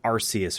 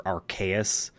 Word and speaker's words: Arceus: Pokemon Legends Arceus or Arceus, which they changed the pronunciation on that Pokemon because the UK people saying a Pokemon's name is Arceus, they get a chuckle.